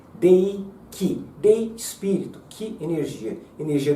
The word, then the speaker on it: 霊気: Reiki, que na verdade a pronúncia não é bem Rei, é Dei, tá? Dei Ki.